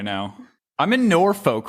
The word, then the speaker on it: Norfolk: yeah norfolk it's pretty i'm from i'm from virginia too it is norfolk it's it's spelled like folk though they don't ever put the l and the k on them it's no [ __